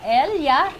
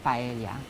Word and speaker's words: paella: Mollica nominate an oompa Elia did I say it right but Elia paella paella euros Valenciana but it's paella okay yeah now and